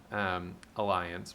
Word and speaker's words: Allianz: So I click it in a new tab, and I see, I was saying Allianz earlier today because Allianz is a life insurance company. I think this is actually pronounced Alliance, but in any case,